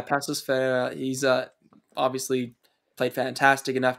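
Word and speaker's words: Paços Ferreira: He's played like with Was it, how do you pronounce that? Pacos or Pasos? Pasos Ferreira. Yeah, Pasos Ferreira.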